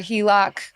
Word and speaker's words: HELOC: that finally I recently got approved for a HELOC is that how you pronounce it that is how you pronounce it